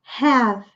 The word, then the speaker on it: have: Então, aqui, na pronúncia, nós temos have, com esse H aspirado, o H em inglês tende a ser aspirado. Have. Não pronunciamos E no final das palavras, com exceção dessa palavra que só tem uma sílaba, let me have a bottle.